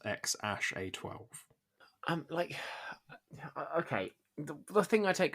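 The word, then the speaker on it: X Æ A-12: They announced on Monday that they had a baby son, and they've identified the second character as Ash, saying it was pronounced X-A12.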